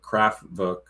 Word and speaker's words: Kraftwerk: that that that band, Kraftwerk. W because the W is pronounced as a V.